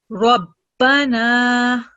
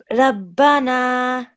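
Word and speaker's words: ربنا: Over here, we can see the letter Ra has a fatha stroke, so we're going to keep the sound thick. Rabbana. Rabbana. Try and keep the sound thick and heavy.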